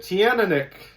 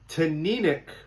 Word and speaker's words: Teaninich: It looks like you'd pronounce it Teaninich. Or Teaninich, depending on how you do that kind of stuff. But it's Teaninich because the Scottish people always want to have